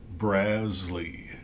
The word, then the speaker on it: Brazle: project U website and it's like BRZ like jazz and then Lee Le and uh it the accent is on the first syllable so I'm going with brazley Al brazley and we can see